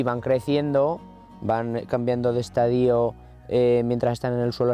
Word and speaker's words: estadio: su mentor televisivo la única acentuación correcta de esta palabra es estadio también cuando significa periodo etapa fase o proceso es incorrecta a pesar de ser frecuente sobre todo en ámbitos agronómicos la pronunciación con hiato de estadio pero si tanto os